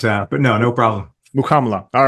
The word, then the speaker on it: Mukkamala: thank you for joining us I apologize I'm butchered your last name not at all happen all the time Alex it's muko but uh but no no problem mukla all right I'll try and get that right